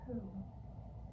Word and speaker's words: who: We are going to practice writing who. Remember that it starts with a silent letter. A letter we see but do not hear.